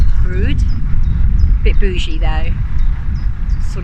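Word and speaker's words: Brewood: Yesterday we came up through a town spelt Breward but pronounced Brood.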